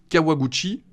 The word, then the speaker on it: Kawaguchi: de la merde pourtant c'est pas compliqué Kawa comme le café Kawa Gucci Gucci comme